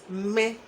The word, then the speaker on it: me: I is me. Me with the falling accent.